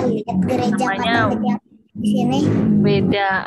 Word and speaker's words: Veda: Weda atau kata-kata tulisannya sih pakai Veda gitu, tapi kita bacanya Weda.